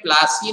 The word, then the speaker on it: पलासी: ठीक है, और उस प्लेस का नाम क्या है, प्लासी। ठीक है, इट इज a English version, क्या है, हाँ, परंतु वो एक्चुअल में प्लासी नहीं था, वो हिंदी में उस गांव को